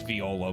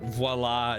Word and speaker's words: Viola: I know it's Viola, but voila is going to be very funny for the bit I'm going to do. It's a local pronunciation.